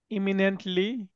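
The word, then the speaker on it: imminently: এটা আপনি আপনি উচ্চারণ যদি করেন ইমিনেন্টলি হবে।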